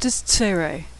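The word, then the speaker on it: צירי: he U na next isere it's pronounced like the a in neighbor or they sometimes it's followed by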